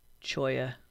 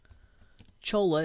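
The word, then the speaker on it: cholla: the first one and this is choya Chola if you don't know how to pronounce it choya Cactus all right so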